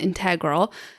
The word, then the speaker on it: integral: out here is very integral to the design because we need to have cabinetry along here, or you can also pronounce it integral, depending on what it is that you're saying.